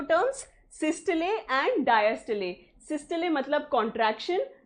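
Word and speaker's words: systole: कौन से 2 term, सिस्टले एंड डायस्टले। देखो, सिस्टोल और डायस्टोल प्रोनाउंस करते हो, वो गलत प्रोनाउंसिएशन है, उसकी सही प्रोनाउंसिएशन इज सिस्टले एंड डायस्टले।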